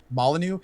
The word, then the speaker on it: Molyneux: But I mean, granted, it's got how do you pronounce his name? Molyneux.